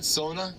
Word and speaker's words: sauna: So actually the word sauna, pronounced sauna, is a Finnish word.